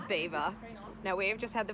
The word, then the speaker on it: Belvoir: in England I was frowned upon because I pronounced it Belvoir and it's actually got its beaver now we've just had the funniest conversation Lukas